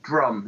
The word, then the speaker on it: DJ Rum: And then we, I think I've been listening to a lot of Drum is how you're supposed to pronounce it, but it's spelled DJ Rum.